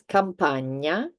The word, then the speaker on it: Campagna: Spanish, for example, you've heard this sound in Spanish, which is the N with the little hat on top. So this is ñ. And we have some examples. Campagna, ogni, Spagna.